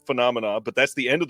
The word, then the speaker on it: Phenomena: You don't want to hear me try to pronounce Phemonia. Is that right? I feel like it's wrong. Phenomena. Phenomena. Ah, see, I wasn't even close.